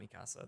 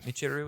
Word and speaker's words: Michiru: Her name is like, it's not Mikasa. That's not right. But Michiru. Michiru is how you say her name.